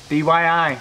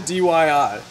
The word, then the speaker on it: DIY: You're saying it wrong, making me say it wrong. You said DYI.